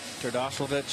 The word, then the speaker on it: Terdoslavich: Got Terdoslavich in left field. Did I pronounce that right?